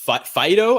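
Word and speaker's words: Faedo: opposite directions you have Alex Fido I believe is how you say his name it's you know that that dog Fido yeah so um I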